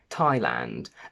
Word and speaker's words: Thailand: There are very few exceptions where th is pronounced as a simple t. We have Thomas, Thames, time, Thailand, and potentially just a couple more.